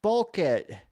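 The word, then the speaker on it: Bulleit: Pronounced Oh, pronounced bulit.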